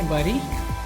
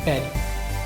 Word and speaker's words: bury: Bury, but no, इसकी सही pronunciation है berry. तो bury and berry are homophones, meaning they have same pronunciation.